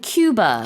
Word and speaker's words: Cuba: 이제 우리가 쿠바라고 한국에서 말하지만 외국에서는 큐바 Cuba. 이렇게 발음을 해요. 그래서 좀 다릅니다.